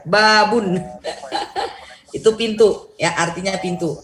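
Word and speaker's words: بابٌ: Babun. Bukan babu ya. Babun.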